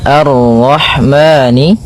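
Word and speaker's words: الرحمن: Pada bacaan arrahmani di sini ada alif dan lam di awal bacaan maka kita baca dengan bacaan al sebagaimana yang di atas al. Kemudian ini bertemu dengan huruf ra yang berharakat tasydid maka ra-nya kita baca dengan tafkhim. Arra, arra. Arrahmani.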